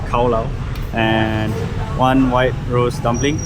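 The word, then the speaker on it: Cao lầu: I think they pronounce it as khao lao, and one white rose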